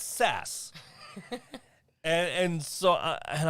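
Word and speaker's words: SaaS: revision because you said sas s-a-a-s it's uh software-as-a-service and if you go on wikipedia and you look up software as a service it tells you the pronunciation of of s-a-a-s is sas okay he says oh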